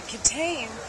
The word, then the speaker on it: Kitaen: But the kittain looks like kitten if you don't know how to pronounce it.